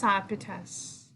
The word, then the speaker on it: Iapetus: Yeah, pronunciation is Iapetus.